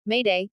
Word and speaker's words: m'aider: you or someone else, derived from the French venez m'aider, meaning, come, to, help me, venez, is dropped, thus m'aider. The proper way to say is to say, m'aider, several times.